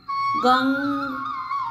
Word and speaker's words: गं: Friends, यह बीज मंत्र है गंग ग के ऊपर डॉट। फ्रेंड्स, बहुत से लोग इसका उच्चारण भी गलत करते हैं।